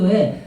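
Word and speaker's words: 神田: 일본 도시 도쿄 간다. 간다. 아 간다 유명한데 모르시는구나. 간다르 한자를 어떻게 쓰냐면 하 하나님의 신자하고 그다음에 밭전자로 써요. 신전이라고 쓰고 간다로 읽거든요.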